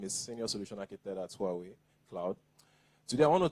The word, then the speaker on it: Huawei: Some say Hawaii, some say Hui, but I think it's Huawei.